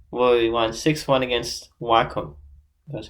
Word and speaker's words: Wycombe: And he played in the Carabao Cup, where we won 6-1 against Wycombe. That's how you pronounce their name.